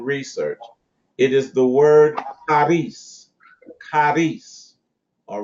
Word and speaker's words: charis: The Greek word in the New Testament translated as grace is the word charis. Charis. All right? It is phonetically related to the English word caress.